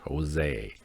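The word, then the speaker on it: José: our art is uh Josie or Jose delbo Jose Josie yeah the J is silent Jose um so this is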